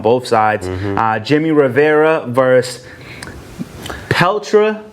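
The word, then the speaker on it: Petr: Jimmy Rivera versus Pelter. Even though it's spelled P-E-T-R, there's obviously an invisible L and an invisible A.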